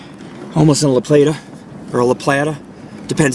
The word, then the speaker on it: La Plata: The rocky wall, folks, is we're almost in La Plata, or La Plata. Depends how you want to say it. La Plata, probably, because A is pronounced ah, like adios.